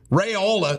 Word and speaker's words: Raiola: top in the country rayola sounds rhymes with areola is going to it's